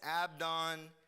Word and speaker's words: Abdon: the last guy is abdon technically his name is pronounced with a V of Don he is